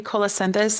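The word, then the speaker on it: colocynthis: Joet, for those who may not know much about the remedy colacendis, and it's spelled C O L O C Y N T H I S.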